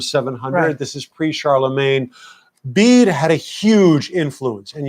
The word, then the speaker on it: Bede: the venerable bede yes I think it's pronounced bead but I like to